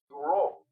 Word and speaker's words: Bureau: Y déjame comentarte, Domingo Buró, el apellido se escribe Bureau, que en francés se pronuncia Buró.